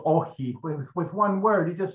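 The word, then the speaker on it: Όχι: occupy the country, and he answered monosyllabically, well, two syllables, OXI, with one word.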